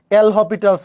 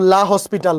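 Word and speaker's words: L'Hôpital: এল হপিটালস, এল হপিটালস, এটার উচ্চারণ এল হপিটালস ল, এল হপিটালস ল, এটাকে কেউ কেউ এল হপিটাল বলে, কেউ কেউ লা হসপিটাল বলে, তোমার যেটা খুশি বলো।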